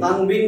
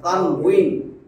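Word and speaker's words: تنوين: না তো তারাবি তানবিন না তো তানউইন যে আমরা বলি না তানবিন তানবিনের উচ্চারণ সেখানে কিন্তু ওয়াও এই যে তানুইন এটা বা না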